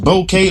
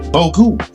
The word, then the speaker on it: bokeh: Bokeh, pronounced bokeh or boku, is a Japanese term meaning blur or haze